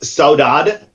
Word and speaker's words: saudade: So it's pronounced Saudade. I love languages. I speak quite a few languages, but this is a Portuguese term, and one language I